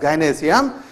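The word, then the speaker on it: gynoecium: इस female part का नाम होता है गाइनोईसियम, नहीं क्या नाम इसका, basically we pronounce it एज गाइनोईसियम, गायनेशियम के इस एक यूनिट का नाम है कार्पेल और पिस्टिल।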